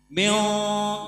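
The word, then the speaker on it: من: Jadi mim nun mati ketemu sya itu berarti ikhfa. Dibacanya harus dengung atau samar. Mio jangan bacanya min, berarti izhar kalau dibaca min.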